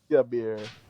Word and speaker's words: Ixabir: So Ixabir, I just took the two I's, crossed them, and made them into an X and put it at the front. But it's the same pronunciation. It's Ixabir. Ixabir.